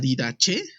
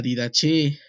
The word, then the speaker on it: Didaché: siglo I ya había un manual llamado la didaché creo que así se pronuncia y que ese manual fue el manual